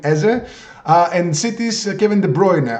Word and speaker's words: Eze: are Crystal Palace Eberechi Eze, or Ize, I don't know how you pronounce it in the USA. In Europe we call him Eze.